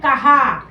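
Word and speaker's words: कहाँ: मतलब उसने कहाने कहा और जैसे चंद्र बिंदु लगता है तो उच्चारण क्या हो जाता है कहा कहा कहां कहा क्या जैसे चंद्र बिंदु लगा तो क्या बन गया कहां कहां है कहां है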